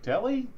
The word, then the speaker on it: Delhi: coach at SUNY Deli Deli do you just say it like Deli okay Delhi okay okay I was like Delhi isn't that India Delhi okay um since